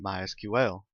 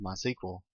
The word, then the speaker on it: MySQL: as you can tell I've been calling it MySQL that is the correct pronunciation however it is also commonly called my sequel if you hear it called that don't be